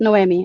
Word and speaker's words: Noemi: It's actually I was telling um our amazing leader uh it's pronounced Noemi. I didn't get an Emmy.